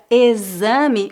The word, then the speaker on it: exame: 6 teste e exame observe que na palavra exame o x é pronunciado como z exame para uma doença